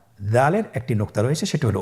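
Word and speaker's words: دال: দালের মাখরাজ হলো জিহ্বার আগা সামনের উপরের 2 দাঁতের আগার সঙ্গে লাগিয়ে উচ্চারিত হয়।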